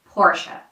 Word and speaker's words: Porsche: So the right way to say this is Porsche. Porsche.